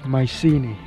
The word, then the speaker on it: Mycenae: police ancient town of mycenae i think that's how it's pronounced in english in greek it should be meekness sadly it's closed we